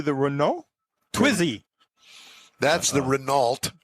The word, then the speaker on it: Renault: That's the Renault. Renault.